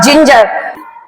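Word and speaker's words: ginger: जी ई आर जिंजर यहां पर friends मैं एक चीज और क्लियर करना चाहती हूं कि जैसे य जि की स्पेलिंग है सेम स्पेलिंग जो है फिंगर की भी होती है फिंगर फिंगर लेकिन इसको हम फिंगर पढ़ते हैं और इसको जिंजर यहां पे जी का प्रोनंसिएशन ज है और यहां पे जी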